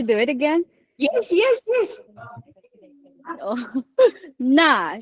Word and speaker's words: 那: 那是谁? No, Is that not correct? fourth tone enough. 那是谁? Oh, okay. 那是谁? Oh, both are fourth tone.